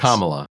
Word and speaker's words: Kamala: what camea crazy comma am I saying it wrong is it Kamala or comma Kamala harrisa Kamala Harris Kamala Kam you're saying Kamala that's what Trump says he says Kamala it's Kamala yeah it's kamla Harris kamla kamla kamla Harris